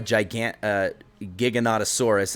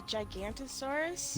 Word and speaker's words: Giganotosaurus: So this is called a Giga, or a Giganotosaurus is actually how it's pronounced, but he's the biggest, vicious, meanest, most insane tame. What did you call it? Vicious. Giganotosaurus? Yeah, it's called the Giganotosaurus. A Gigantosaurus?